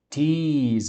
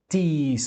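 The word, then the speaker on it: τοῖς: Os quimeis afiemen, tois é um artigo, tis é a pronúncia, tis, som de tongo, o i, tis, ofiletes.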